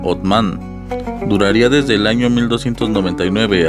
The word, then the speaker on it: Osman: La dinastía Osmanlí, de donde proviene la palabra otomano, que sería gracias a la pronunciación de Osman, que en turco se pronuncia Otman, duraría desde el año